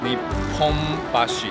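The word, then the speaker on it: 日本橋: 你轰巴西，然后在东京是你轰巴西嘞。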